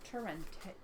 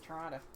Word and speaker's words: Torrente: So yeah, Marco Polo by Ella Torrente. Torrente? Yeah. Okay. Yeah. And Just don't pronounce it Toronto.